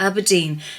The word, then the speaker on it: abrdn: on the a96 to aberdeen be aware because the granite city's name has now been truncated to a b r d n pronounced aberdeen okay well that might